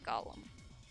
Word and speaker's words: GOLM: which is of course gollum much to his surprise this ends up being pronounced like gollum anyways on the side note